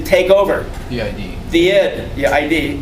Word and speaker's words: id: The id. The ID. It's pronounced id.